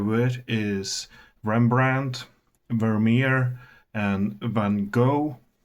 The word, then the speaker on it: Van Gogh: Some names you may be familiar with is Rembrandt, Vermeer, and Van Gogh, or as the Dutch pronounce it, Van Gogh.